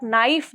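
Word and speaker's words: knife: आपका के is silent अगर आप नाइफ देखेंगे जैसे चाकू जो होता है नाइफ उसमें जो के वर्ड है वो भी साइलेंट होता है वो किससे स्टार्ट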